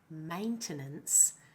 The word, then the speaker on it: maintenance: Now in the word maintenance, the first syllable is stressed and has the diff thong vow a. The second and third syllables are both the weak vowel schwa.